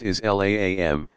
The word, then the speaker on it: Islam: the root meaning of the Arabic word Islam pronounced is laam to the one true